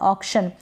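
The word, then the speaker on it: auction: और सी को यहाँ पर आधा क प्रोनाउंस करेंगे। शन से पहले आ रहा है तो आधा क, सी का आधा क। ऑक्शन। ऑक्शन अगर पूरा होगा तो ऑक्शन होगा तो गलत हो जाएगा।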